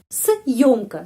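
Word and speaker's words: съёмка: Съемка, съемка, съемка, съемка. Съемка penekanan pada huruf yo.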